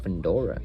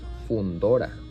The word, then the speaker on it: Fundora: it's a Spanish word, I have to pronunciate exactly how it's supposed to be pronounced. Which is not Mendoza. This is Mendoza, and this is not Fundora. This is Fundora.